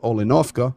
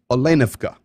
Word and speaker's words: Olenivka: The accent, 99% of the time, goes on the second syllable of the word. So it's not Olenovka or Olenivka, it's Olenivka. Olenivka and the Azov.